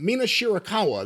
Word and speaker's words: Mina Shirakawa: the finish of May versus Cameron with the postmatch with Sera and Mina uh Mina shirakawa that's how you say it kiss kissy girl